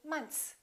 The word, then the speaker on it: months: even for native speakers most Americans don't really say months they kind of eliminate the th and they just say months one month two months